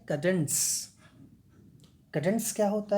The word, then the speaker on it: cadence: इन कडेंस CADENCE है, लेकिन pronunciation में बीच में ट आता है, ठीक है. कडेंस, कडेंस क्या होता है?